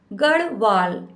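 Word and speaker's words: Garhwal: लिख के दिखाती हूं गढ़वाल कैसे बोलते गढ़ वाल गढ़वाल ठीक है इस टाइप से गढ़वाल तो जो विनिया है वह कहां से ताल्लुक रखती है गढ़वाल से कहने का मतलब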